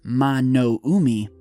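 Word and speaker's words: 魔の海: the devil sea or in Japanese pronounced mono Umi has also been called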